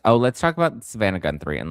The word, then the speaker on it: Guthrie: It's not Guthrie, it's Guthrie.